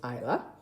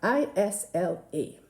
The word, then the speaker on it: Isla: Okay, so Isla, I-S-L-A. It's the first 4 letters of the word island. The S is silent in the word island, therefore, Isla.